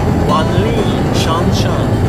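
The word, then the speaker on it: 万里长城: Donc la grande muraille de Chine se prononce Wanli Shanshan.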